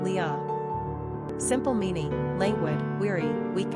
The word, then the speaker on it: Leah: gender girl origin Hebrew number of syllables two ranking popularity 33. pronunciation Lia simple meaning language weary